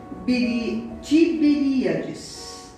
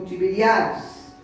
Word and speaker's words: Tiberíades: seus discípulos junto ao mar de Tiberíades, ou Tiberiades, depende da pronúncia, Mar da Galileia.